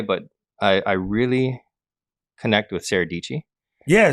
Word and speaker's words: Sara Dietschy: You know, I don't know why, but I really connect with Sarah Dietschy. Yeah, Sarah Dietschy rhymes with Peachy.